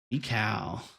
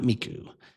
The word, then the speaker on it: Mikau: you pronounce their name me me meika not Miku uh cow uh only 2,000